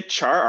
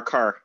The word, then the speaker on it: char: By the way, do people say char or car? Because char is the only right way to say it. Car is, if you're saying car, just change your life right now. You are incorrect. So instead, it's not a car, it's definitely a char.